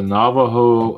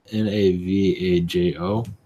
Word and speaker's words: Navajo: well I'm seeing what I got is a Navajo I think that's how you just pronounce it Navajo Indians you connection your P oh it's called n a v AJ o I want to pronounce it Navajo but uh